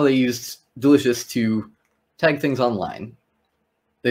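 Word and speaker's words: del.icio.us: I think you're supposed to pronounce it delicious, so I'm going with that.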